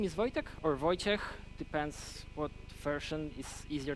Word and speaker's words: Wojciech: My name is Wojtek, or Wojciech, depends what version is easier to pronounce for you.